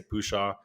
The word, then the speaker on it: Pushaw: Christina Pushaw, who I don't even know how to pronounce her last name, Pushaw. I say Pushaw.